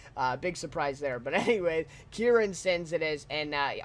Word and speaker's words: Ciarán: urine sins cure and sins so I was pronouncing it wrong big surprise there but anyway ciarán sins it is and I obviously he's gone